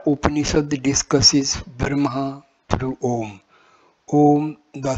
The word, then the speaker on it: Om: The word as written in Sanskrit consists of three letters, A, U and M.